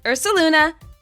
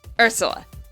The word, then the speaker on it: Ursula: Not Ursuluna. Ursula. Same pun, one less syllable.